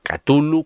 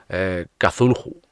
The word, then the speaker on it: Cthulhu: Oficialmente, según los de los craftianos de los que están en Estados Unidos, se supone que sería algo así como Cthulhu. Ya yo ahí no me meto en la pronunciación. Yo digo siempre Chulu, porque me sale más corto.